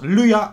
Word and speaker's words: Lua: Lua wordt geschreven als Lua, uitgesproken als Lua.